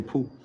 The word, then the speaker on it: Pu: Pu is how we say poo.